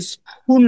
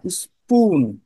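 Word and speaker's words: spoon: স্পুন, এটা স্পুন না, স্পুন। এস এর পরে যদি পি থাকে ইমিডিয়েট গায়ে লাগা লাগোয়া অবস্থায়, তাহলে সেটা ক সাউন্ড না হয়ে কই হয়।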